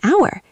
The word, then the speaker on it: hour: An hour. H is silent. It sounds like ow.